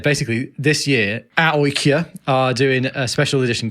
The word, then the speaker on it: AIK: And they said, basically AIK in Sweden, or AIK, as we learned they were pronounced when we were there.